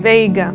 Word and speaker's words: Veiga: Did I pronounce that correctly? Veiga.